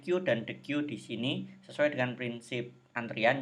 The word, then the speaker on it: queue: ini dengan Dek ini Ini bacanya Dek Sedangkan ini bacanya Q bedanya apa-apa kalau decu